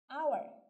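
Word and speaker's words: hour: সেই একইভাবে আমি যদি একটু বলি আওয়ার, এবং আমি যদি বলি হর্স, এখন যদি আমি বলি তাহলে কি উচ্চারণ হবে?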